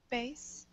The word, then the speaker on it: bass: pronounce b-a-s-s b-a-s-s ace bass well depends on what we mean because that would be bass but but in music it's pronounced bass because it's it's an irregular word is that what you